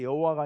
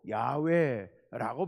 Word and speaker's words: 야훼: 근데 여호와가 아니고 야훼라고 발음하는 게 좋겠다.